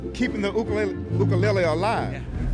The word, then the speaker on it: ukulele: that we have is known as an ukulele ukulele that's the proper pronunciation for the instrument that literally means jumping